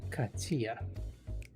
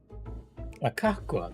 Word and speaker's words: Kakwa: Katya. Kakwa, that's it. Kakwa, not Katya.